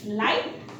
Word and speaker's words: light: जी एच is silent at the final time of जी एच T, like LIGHT, लाइट, EIGHT, एट, लाइट, लाइट आपको पता है प्रकाश, एट यानी कि 8।